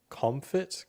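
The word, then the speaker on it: Komfit: Okay, why did NASA choose the Comfit, K-O-M? Yeah, think of it like comfort, like a different spelling, but it's spelled with K and it's K-O-M fit.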